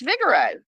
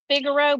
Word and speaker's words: Figaro: where you where you want to go it's Vigoro of course and how are you spelling that because you're saying Vigoro but it's figuro but it's pronounced fi G a r o